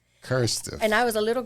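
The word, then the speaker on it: QRSTUV: with this name and it's q-r-s-t-u-v and it's pronounced cursive cursive and I was a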